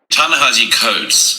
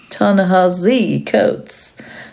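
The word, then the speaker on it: Ta-Nehisi Coates: has written tanahi coats can't even bother to pronounce his name properly I've never heard it said with a zed or z sound like we know he can make an S sound so why why not make that effort we should start pronouncing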